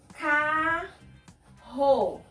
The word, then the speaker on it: carro: A pronúncia do R, R, meio da palavra, também é a mesma pronúncia do R no começo da palavra. É aquele som que vem da garganta. Olha só. Carro. Carroça. Ferro. Nós pronunciamos de uma maneira mais forte.